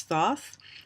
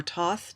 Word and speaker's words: Thoth: Yes, and here is Thoth, or Toth, depending on how you want to pronounce it, and that's his beak.